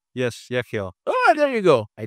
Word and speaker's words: Yechiel: I'm going to try to pronounce your name. Yechiel. Yes, Yechiel.